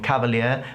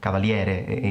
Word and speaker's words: Cavalieri: so I do watch cavalier although cavalieri his surname is actually Italian that's how he should pronounce it he's really cool and